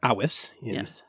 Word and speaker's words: avis: The Latin word, of course, is avis or awis classical pronunciation, from which we get the word, obviously, avian.